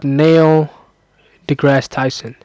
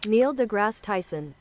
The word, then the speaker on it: Neil deGrasse Tyson: I'm going just search up nailgrass Tyson. Is that how is that is that how you spell pronounce his name? Is that how you pronounce his name? Neil deGrasse Tyson.